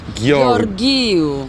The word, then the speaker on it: Gheorghiu: She began by making sure that I stopped pronouncing her name incorrectly. Angela Angela Gorgu Gorgu. Bravo.